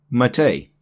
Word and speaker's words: MATE: And while we're on desktop environments, Mate. It's Mate. It's not mate. I know in the English language, M-A-T-E is mate. This is actually Mate in Italian, which is where the word originates from.